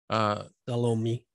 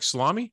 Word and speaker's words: Salome: John specifies four women: Mary, the mother of Jesus, his mother's sister, Salome. How do you say that? I think so. It's like salami? Yeah. Salome? Yeah.